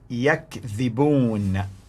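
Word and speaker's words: يَكْذِبُونَ: The pronunciation of the word is yakdhibun, yakdhibun, which means they lie.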